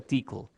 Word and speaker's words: Tcl: tcl lenge scripting bueno tcl se pronuncia tle lo cual es muy nerd Es como hablar de